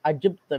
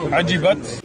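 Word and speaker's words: عجبت: With a ta at the end, it's Ajibta, not whatever the Sheikh was saying. Ajibat.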